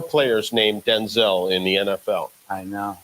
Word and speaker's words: Denzel: So it turns out we've been all saying Denzel Washington's name wrong.